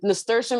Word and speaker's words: nasturtium: And nasturtium, it's like, it's spelled weird.